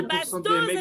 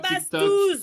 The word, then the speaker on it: Bastoz: C'est pas Bastos, c'est Bastouz. Bastouz, la partouze.